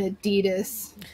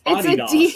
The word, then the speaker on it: Adidas: It is not pronounced Adidas. What is it pronounced? The family name, that is the family name. It's Adidas. Okay, nobody's saying that. No one says it. Not in the U.S. anyway. The correct name is Adidas.